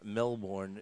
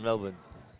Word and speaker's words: Melbourne: If you're from Melbourne and you live in Australia, you say Melbourne. Melbourne, kind of like Yeah. B-I-N. Yeah. That's like Worcester, around here. Yeah, right. Right. So she hails from Melbourne, Australia.